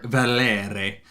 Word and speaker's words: Valere: And we get the Horn of Valer, or Valir, or Valere. The Horn of Valere. You have to say it like that every time.